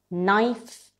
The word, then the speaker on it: knife: Words that start with K and K is silent. Knee. No. Knife.